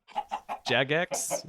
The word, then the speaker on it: Jagex: I mean, clearly Jagex is how you pronounce the name of that company that makes it.